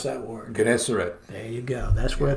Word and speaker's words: Gennesaret: You pronounce that word. Gennesaret.